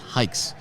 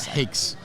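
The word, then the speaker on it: HAIX: h it's h a iix but it's spelled pronounced hikes not hikes and everybody gets it wrong it's funny we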